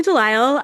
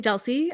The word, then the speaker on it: Dile: Hi, I am Dile. Um I also answer to Deli uh because my name looks like it rhymes but it doesn't.